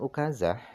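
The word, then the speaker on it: عكازة: menggunakan tongkat Wal ukazatu Adapun ukazah cara bacanya adalah bidomil Ain dibaca dah Ain fiilnya eh dibaca dah ainnya makna ukazah itu itu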